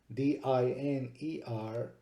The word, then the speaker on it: diner: However, in the word diner, D-I-N-E-R, since there is only one consonant in between the vowels, the first vowel is considered long and the last vowel is considered short. So it would be pronounced diner.